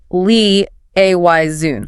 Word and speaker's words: liaison: Pronounced le a yun. Le a yun. This one is tricky because of that strong French influence, isn't it? particularly the initial lee sound and that sort of nasalized zun ending.